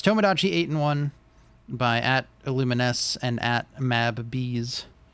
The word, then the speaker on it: MabBees: But yes, that's Tomodachi 8-in-1 by @Illumines and @MabBees. I have to pronounce that second one that way because it's two B's next to each other, and I don't want